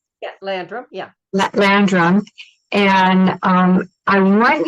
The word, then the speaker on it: Landrum: Am I pronouncing that right? Yeah, Landrum.